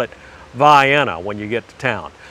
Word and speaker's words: Vienna: pass back and forth on i-75 but it's pronounced vienna now if you call it vienna to any of the locals around there they